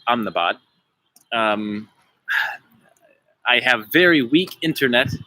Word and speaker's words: Ahmedabad: Welcome to Ahmedabad, or I would say Ahmedabad, India. The locals say Ahmedabad.